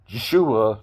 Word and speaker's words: Yeshua: right s h UA there is no actual s right with the um English Hebrew name right it's an sh sound it's not even really